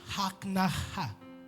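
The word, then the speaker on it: הכנעה: En hébreu, on appelle ça Em hebreu chama-se haknaha.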